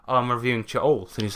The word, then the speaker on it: Cha'alt: It's spelled CHA ALT. Yes. Cha'alt.